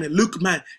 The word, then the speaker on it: Luqman: By the way, my name is Luke Man. Luke Man is pronounced as Luqman.